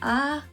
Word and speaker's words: 아아: Slowly: a-a han jan-i-yo.